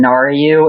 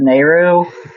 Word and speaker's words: Nehru: And one last thing is, to the person who asked, how can I stop saying Naryu instead of Nehru?